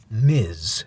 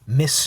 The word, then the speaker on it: Ms.: Now, obviously, this is a play on mystery, but Ms. is pronounced Ms. So this is Ms. Tree. If they meant it to be pronounced Miss Tree, to further go on the play of mystery, that's not quite right. That's not how you pronounce that. That's Ms., not Miss.